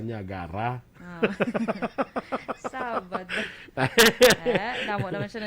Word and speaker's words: Niagara: Pag pronounce sa Ilonggo, Niagata. Pero sa Karayaan, Niagara.